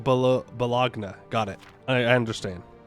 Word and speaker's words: Bologna: Every time you say balone, you should pronounce it differently. It's pronounced bal balagna.